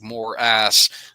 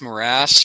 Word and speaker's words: morass: I love pronouncing it that way because it does sound like more ass. I think it's morass, but anyway, do we